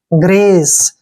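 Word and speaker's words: grace: Consonant आता है तो जी का उच्चारण ग करते हैं, और आर को रे लिखेंगे, ए को ए की मात्रा पढ़ना है, सी ई को से पढ़ते हैं। ग्रेस, ग्रेस मीन्स होता है दया, यानी कि पीटी।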